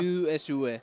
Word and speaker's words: Jusue: mail, t'es sur LinkedIn, Jesue, Jesue, hein, c'est bien ça? Jesue. Voilà, c'est ça. C'est difficile à prononcer même en espagnol, c'est Jesue.